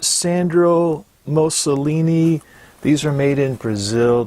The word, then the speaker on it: Sandro Moscoloni: mention is this brand right here and it's pronounced Sandra most Shalini these are made in Brazil this pair here's